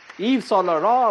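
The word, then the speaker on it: Yves Saint Laurent: get his hundred points eve solar raw of course that's i think the only french pronunciation i can confidently crack someone look at that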